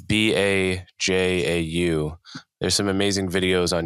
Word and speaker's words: Bajau: Have you heard of the I may be mispronouncing, but the Bajau people? No. It's Bajau.